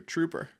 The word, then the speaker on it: Truper: not where it's from it's not spelled with a double O it's t r u p r So True